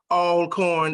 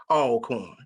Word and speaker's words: Alcorn: Person from Grambling, you should know how to pronounce all corn. It's always all corn.